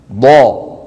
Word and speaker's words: ض: في اللغات الأخرى هناك دال مفخمة، لكن في العربية هناك الضاد ضا. غير المغضوب ضو ضا ضي والأرض. ولاحظوا بأن صوت الضاد رخو، يعني قابل للمط.